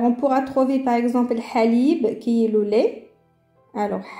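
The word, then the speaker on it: حليب: Alors, on pourra trouver par exemple halib, qui est le lait. Alors, halib. Alors, on entend bien la lettre ha.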